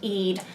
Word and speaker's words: Ead: Her name is spelled E-A-D. I'm assuming that's pronounced Eid.